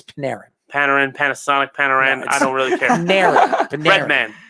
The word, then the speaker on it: Panarin: I understand that, but pronounce his name right. It's Panarin.